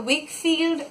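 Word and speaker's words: Weikfield: I got this one this is the wick field that's how it is pronounced this is the Fuda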